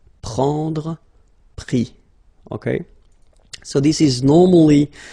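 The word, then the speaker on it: pris: And then prendre, so e-n-d-r-e, will give es, prix, okay. Same thing here, we don't pronounce the final s, okay. So let's see that again.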